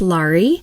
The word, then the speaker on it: Laurie: I uh my name is pronounced Li and it rhymes with Star.